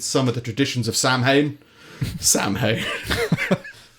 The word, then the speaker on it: Samhain: of the traditions of Samhain Samhain I think it's pronounced some like so in or something other the evening before